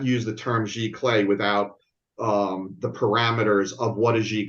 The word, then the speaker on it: giclée: How did you pronounce it? Giclée? Giclée.